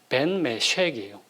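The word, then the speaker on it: בן משק: 나의 상속자라고 할 때 그 상속자의 히브리어 발음이 뭐냐면요, 벤 메쉑이에요.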